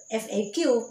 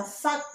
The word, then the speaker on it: FAQ: Bacanya FAQ, nggak boleh baca fuck gitu.